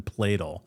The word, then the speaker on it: Pladl: Anyway, it actually rhymes with ladle. So, Steven Platel.